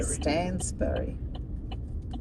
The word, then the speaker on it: Stansbury: It's actually Stansbury.